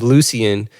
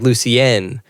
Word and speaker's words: Lucienne: pronouncing that wrong, but I always read it as Lucian, but it was like Lucienne.